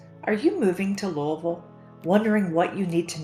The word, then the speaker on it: Louisville: people will say Louisville or Louisville or even Lou a bill but according to Professor Patton at the University of Louisville it's actually pronounced Louisville she also said depending on how you say